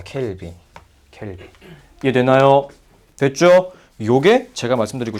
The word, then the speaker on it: 켈빈: 네, 3000K라고 봐도 되지만 켈빈이라고 읽어줍니다. 켈빈.